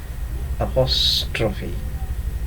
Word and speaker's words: apostrophe: more are wrongly pronounced by silencing the letter E at the end of the word.